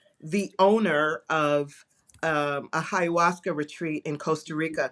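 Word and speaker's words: ayahuasca: and his I don't even know how to pronounce. I've never I've never done that. But uh there you go. Ayawaska.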